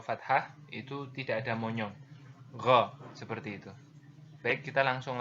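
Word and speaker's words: غ: Diucapkan seperti kita kalau mau mengucapkan huruf Kha gitu ya, yaitu dari pangkal tenggorokan kita, dan yang membedakannya adalah Kha itu mengalir nafas, sedangkan Gha tidak mengalir nafas seperti itu ya.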